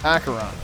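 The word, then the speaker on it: Acheron: do we have next in case you were wondering is pronounced akaron I only know that because he said it in the previous level I know we learned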